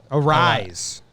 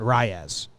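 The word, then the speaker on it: Arráez: He just made me realize we've been pronouncing it wrong. It's Rise, not Reyes.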